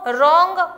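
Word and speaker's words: wrong: Fill the blanks with the suitable silent letter. Knob, रोंग, honour, इसमें भरा जाएगा के, K N O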